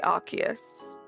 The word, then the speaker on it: Arceus: Do you say it like Arceus or Arceus? I say Arceus. The correct way.